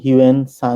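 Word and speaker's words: Xuanzang: গুরুত্বপূর্ণ বিবরণ লিখে গিয়েছেন তার নামের সঠিক উচ্চারণ খুব সম্ভবত জুয়ান জ্যাং তবে বাংলাদেশে তিনি হিউয়ে সাং নামে বেশি পরিচিত হিউয়ে সাং 603 খ্রিস্টাব্দে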